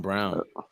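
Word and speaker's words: Braun: a sponsor to go to nice nice Christian Brown so his name is brown that's how they pronounce it usually Brawn when it's built 17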